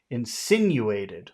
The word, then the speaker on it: insinuated: Insinuated. Which syllable has all of the power? Sin. Sin. Insinuated. No, it's sin.